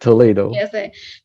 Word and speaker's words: Toledo: bachelor of Business Administration from the University of Toledo did I pronounce it right that's correct Toledo over to you Paul to give us a